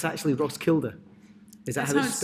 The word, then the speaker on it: Roskilde: But it's actually Roskilde. Is that That's how how it's it's spelled?